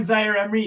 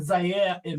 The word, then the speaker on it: Zaïre-Emery: And the announcers pronounce the names correctly, so it's not It's not Warren It's not Warren Zaïre-Emery, it's Warren Zaïre-Emery.